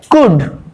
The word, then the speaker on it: could: এরপরে দেখো কুড, COULD কুড, এখানে কিন্তু ল বা এল উচ্চারিত হচ্ছে না।